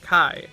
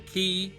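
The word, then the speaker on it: chi: of the Greek letter Kai which can be pronounced a number number of different ways from Kai to key the most ancient some say Kai but the meaning is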